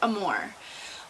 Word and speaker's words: Amore: I always say Amore, so I'll probably switch back and forth in this video, but I believe it's pronounced Amore.